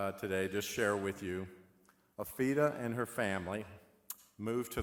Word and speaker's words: Afira: And it's spelled A-F-I-R-A, but it's pronounced Afira.